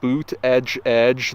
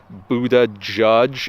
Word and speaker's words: Buttigieg: judge that is how you say his name boot edge edge though his husband states that Buddha judge is also acceptable I prefer Buddha judge in